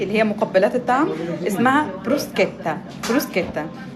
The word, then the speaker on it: bruschetta: هي مقبلات الطعم اسمها بروسكيتا بروسكيتا ناس كتير بتنطق غلط حتى في امريكا بينطقها غلط بيقول بروشيتا معفش ليه بروسكتا بروسكتا بتبقى عباره عن عيش